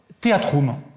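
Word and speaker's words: theatrum: On disait d'abord théâtrum. Théâtrum, comme ça se prononce. T-H-E-A-T-R-U-M. Et théâtrum, c'est un mot qui vient du grec, le théatron.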